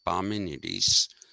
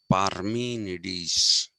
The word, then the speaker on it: Parmenides: greek pronunciation is not parmenides it is parmenides you have to pronounce the r and you have to not only pronounce the r you have to emphasize the r which is parabeniedis so